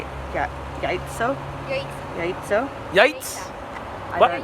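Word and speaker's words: яйцо: Yaitso? Yaitso? Yaitz? I What? don't know. Yaitsa.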